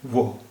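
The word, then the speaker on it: वह: वो आ रहा है, वो आ रहा है এটা লেখা হয়েছে ওয়াহ, ওয়াহ, কিন্তু আমরা উচ্চারণ করি वो। লেখা হয়েছে ওয়াহ কিন্তু উচ্চারণ করি वो आ रहा है, वो आ रहा है অর্থাৎ সে আসছে, সে আসছে, वो आ रहा है।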